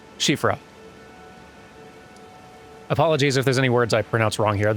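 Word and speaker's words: Siofra: had the uh the shifa river well elevator thing nearby i'm told that's pronounced like shifra apologies if there's any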